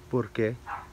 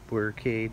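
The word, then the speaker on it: Burque: It is what locals call Albuquerque is Burke. Some people say Albuquerque, others say Burke, depending on how well you can roll your R, I guess.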